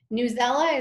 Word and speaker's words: Newsela: it at different levels newsela is a well-known one or news ELA depending on your pronunciation choice one of the challenges